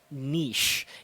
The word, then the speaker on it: niche: English is the term niche. Yes, let me say that one more time. Niche. It's not niche as it is spelled, so don't get that wrong, please, especially when you're using it for the first time.